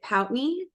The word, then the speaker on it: Pountney: you to all warmly welcome betna is it pout me is that how I say your last name